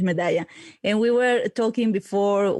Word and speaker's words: Medalla: The pronunciation is Medalla.